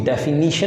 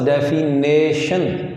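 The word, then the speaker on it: definition: हम डिफ़ाइन करेंगे फिजिक्स को, उसकी डेफिनीशन है, लफ्ज़ डेफिनेशन नहीं है बल्कि डेफिनीशन है, तो डेफिनीशन स्पेलिंग देखिएगा, और डेफिनीशन ऑफ फिज़िक्स।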